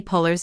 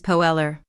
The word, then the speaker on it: Poehler: alternate pronunciation of Amy Puller's name. Offer comically struggled to pronounce Poler's last name, which he contorted as Poeller.